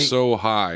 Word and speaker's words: Asahi: Yeah, be He's like, so high is how it's pronounced.